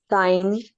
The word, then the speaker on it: sign: give me an example sign GN sign okay so when you have a consonant in GN the g is silent at the beginning or at the end of the root word as in sign foreign okay A Sign